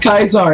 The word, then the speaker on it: Caesar: It's Kaiser, you pronounce it Kaiser, it's Latin.